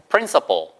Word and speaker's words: principal: 그래서 principal 발음은 똑같은데 AL로만 쓰면 교장이란 뜻이에요. 해보세요. principal.